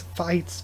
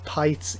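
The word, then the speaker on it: Pitez: It's pronounced like bites, but with a P or an F instead of a B.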